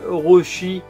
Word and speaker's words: Orochi: Donc le deuxième, pareil, je l'ai payé 100 yens, c'est Orochi, hein, ça se prononce comme ça, O-R-O-C-H-I, Orochi.